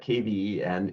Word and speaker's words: Kven: So that KVEN is pronounced Kven. That's just the Northern Norwegian dialect, which is what I speak now.